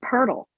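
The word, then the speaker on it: Pirtle: it's not just me my last name is purdle i know that yeah what is it uh it's spelled p i r t l e what does it mean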